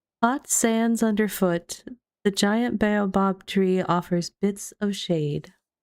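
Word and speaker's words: baobab: It's baobob. Like three syllables, right?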